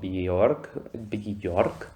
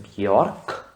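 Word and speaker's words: Björk: Yo usualmente obviamente la conocía como Bjork, pero es Bjork.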